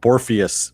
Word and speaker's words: Borpheus: Borpheus, pronounced like Morpheus, is what he said.